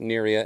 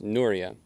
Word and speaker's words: Nuria: Like I said not pronounced Nuria. It's Nura and uh I'm not super familiar with the languages used in Adora and Suryas.